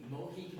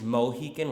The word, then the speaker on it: Mohican: with an A, so Mohican. But the real pronunciation is somewhere in between the two.